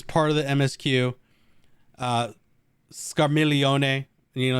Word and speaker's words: Scarmiglione: of the msq uh scarmelione you know you got to put the right italian on there i'm so used to scar milk i had to like check myself the g is silent um god what a